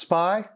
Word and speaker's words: SPI: serial peripheral interface and it's sometimes pronounced spy uart which stands for